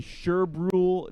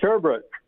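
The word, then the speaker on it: Sherbrooke: Riders 3 and 0 Steve in sheru Nova Scotia hopefully I got that right Steve did I say it properly yeah it's actually sherbrook sherbrook okay we gotta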